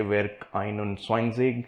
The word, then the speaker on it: Werk 21: That's Werk 21, or as they say, Werk 21. Still trying to learn its pronunciation. They prefer to use the German word for 21.